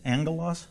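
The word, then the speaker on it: ἄγγελος: know what this means angle loss that's how you pronounce it you know what it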